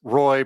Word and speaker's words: ROI: ROI says Roy, pronounced like Roy.